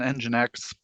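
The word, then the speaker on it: nginx: are we using uh we are on engine X engine X it's a spelled with an X engine X is spelled very funky but then this data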